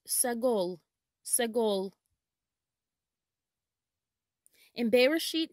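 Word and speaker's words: סגול: refer to the heavens in hebrew purple is pronounced sagul segol in bereshit 9 20 it says then noah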